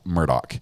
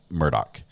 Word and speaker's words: Murdaugh: I believe it's Alec Murdock is how he pronounces it um or Alec Murdoch it's more like an a instead of an ah sound sort of halfway in between I can't believe he's